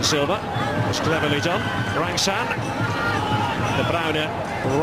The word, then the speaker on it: De Bruyne: Like a bit of a slip on the part of De Bruyne, the Belgian. That is the pronunciation, by the way. Possibly heard it pronounced a few different ways.